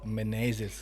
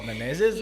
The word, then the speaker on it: Menezes: know me as Menezes. Menezes का भी we hardly get people who are able to say Menezes properly. So, Because- but I will say the way to say it is Menezes.